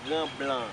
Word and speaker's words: Grand Blanc: Can you pronounce that name again? Grand Blanc.